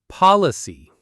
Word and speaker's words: policy: If you make that O sound too closed or short, it can sound unnatural. You need that open, relaxed ah sound. policy.